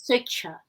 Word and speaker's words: Swechcha: Pronounced as Swechcha.